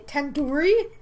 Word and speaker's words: tandoori: Tandoori? Tandoori. It's tandoori. The do isn't like door, it's like do head. Are you 5 years old? You can at least say the do and due date. Tandoori?